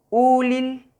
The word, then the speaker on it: ulil: Y la palabra, por ejemplo, ulil, ulil, que es U prolongada, ulil, que significa venir, venir de un lugar para acá.